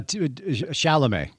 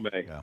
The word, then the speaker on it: Chalamet: How do you pronounce his name? Uh, Chalamet. Timothy Chalamet. Chalamet.